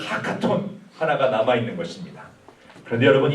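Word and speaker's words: הקטן: 이 하카톤은 발음을 좀 침을 튀면서 해야 돼요. 하카톤. 이렇게 해야 발음이 좋은 거예요.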